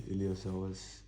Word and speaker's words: iliopsoas: So the P is silent.